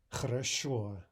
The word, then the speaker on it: Хорошо: Go ahead and say it very emphatically, without reservation. Ch. Хорошо.